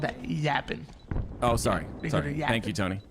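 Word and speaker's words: Yappin: Tony thank you we y a p p i n no G no G by PP i n okay got it you say it like that 45 to 21 lead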